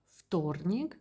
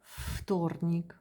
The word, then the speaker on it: вторник: Вторник, it's written in with first letter V. We can hear вторник.